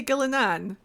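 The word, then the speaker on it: Ghilan'nain: with how it's written gillane sounds better to me with how it's written however people in in game do say gilanan there are places where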